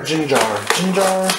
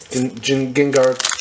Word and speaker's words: Gengar: Gengar or Jinjar? It's Gengar.